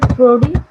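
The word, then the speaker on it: Proudie: दोनों की प्रोनाउंसिएशन ये प्रूडी होगी।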